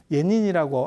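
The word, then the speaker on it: 円仁: 입당 구법 순례 행길 예닌이라고 하는 사람이에요 일본 발음으로는 이 사람 굉장히 특이해요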